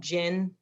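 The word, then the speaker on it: GIIN: to be really helpful is called gin it's spelled g-i-i-n and what it is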